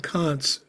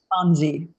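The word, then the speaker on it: Conze: Edward Kantz, is that how he pronounces his name? Kanzi. Kanzi, okay.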